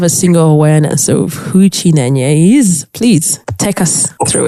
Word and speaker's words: Chinenye: But now here we are in Uganda, and I'm very sure there are people that have not heard of Chinenye. Wow, you got the pronunciation.